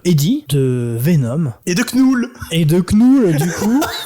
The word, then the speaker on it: Knull: chaque fois je l'appelle Knoul. Bah c'est vrai que Ou c'était nul. Knull, tu vois, parce que ça s'écrit K-N-U-L. Donc moi je dis Knull dans ma C'est pas tête.